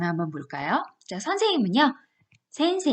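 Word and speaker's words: 先生: 선생님이라고 저를 부르실 때는 그냥 센세 이렇게 하시면 되는 거에요 얘 드시죠 짧은 불러 보시겠어요 센세 이렇게 약간 올려서 9시면 되겠죠 상품을 선생님입니다 한번 해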